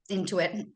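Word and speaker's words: Intuit: shows up then in your account statement as into it am I saying it right into it yeah into it I'm into it yes we are but yeah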